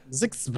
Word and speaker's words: ZHXB: How would you say that phonetically? You go ZHXB? I think we did that last week. Last time. Yeah. Zixba.